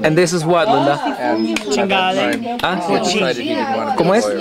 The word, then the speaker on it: cinghiale: It was a cinghiale.